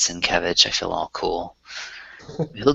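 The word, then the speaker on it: Sienkiewicz: He he'll like um his name is spelled really weird but you say it's sin kevich I feel all cool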